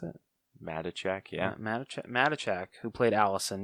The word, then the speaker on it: Matichak: Is that how you think you pronounce it? Matichak, yeah.